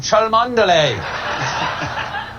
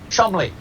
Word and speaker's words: Cholmondeley: The Marchioness of Cholmondeley. What a beautiful name that I'm being told right now that I pronounced incorrectly. It is in fact pronounced Chumley.